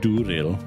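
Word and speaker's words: Andúril: this is Andrew and durale pretty sure you roll your R in that flame of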